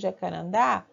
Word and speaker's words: Jacarandá: de amar é tão nesse caso de Jacarandá a sílaba mais forte é da então é a última sílaba nesse caso eu ia